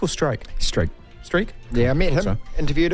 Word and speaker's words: Streak: battle with cancer who's 49 years old it's pronounced streak or stroke strike streak yeah I met him interviewed him really nice